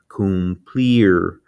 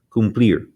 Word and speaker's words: cumplir: So cu because of the ooh on it, and clear because the letter I is pronounced like an E. Cumplir. Cumplir.